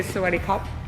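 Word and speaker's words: สวัสดีครับ: You'd say sweaty cup, which is thank you. Sweaty cup. Sweaty cup. It's kind of like sweaty cup.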